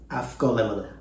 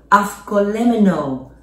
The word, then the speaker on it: avgolemono: Avgolemono. Avgolemono.